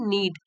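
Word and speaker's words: knead: जैसे आटा गूंद हैं तो यहां पे के साइलेंट है नीड कि जो आटा गूदना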